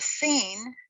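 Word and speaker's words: sin: The sheen is transliterated with an SH and pronounced sh, whereas the seen is just the S sound.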